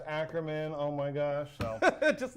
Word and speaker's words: Ackerman: Like, it's like, Mr. Ackerman. It's like, no, it's Ackerman.